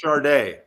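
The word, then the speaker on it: Sade: Simone sings the blues it's pronounced charday no I know how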